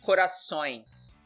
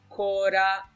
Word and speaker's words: Corações: So as you see, O, with the same mark, we have to use the nasal sound. Corações. Corações. Let's see how it's pronounced. Corações.